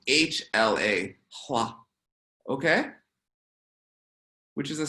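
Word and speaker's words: ལྷ: So it's written LHA. Okay? But instead of LHA, it's supposed to be pronounced HLA.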